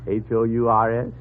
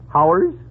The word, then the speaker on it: hours: Now, how do you pronounce Hours? H-O-U-R-S? Oh, Howers? You pronounce it hours.